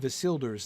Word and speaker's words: Isildur: That the first syllable of Isildur's name would be short, fits the pattern, right? For that was, shall be. Shall be. For is, right? For Isildur's bane shall waken. That last line Yeah, exactly. Isildur is a triplet with the emphasis on is.